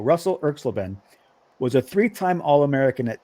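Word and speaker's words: Erxleben: will get somebody will win all right Russell klen his name is spelled e RX l e BN so we're gonna call Russell klen was a three-time All-American at Texas and he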